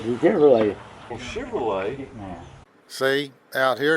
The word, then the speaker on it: Chevrolet: Did you catch that? Chevrolet. That's how we say it in West Texas. Dad, what make of car is that? It's a Chevrolet.